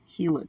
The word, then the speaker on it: Gila: discuss water depletion the Gill River sorry the heila river faces s sorry I sound like a non-native when I say Gila but most people will it's really hila guys um they pronounce a